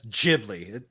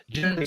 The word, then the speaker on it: Ghibli: Yao Miyazaki film and there they pronounced it as Ghibli. It just sounds worse. Giblly sounds right. Jibly sounds dumb. That's just my take though.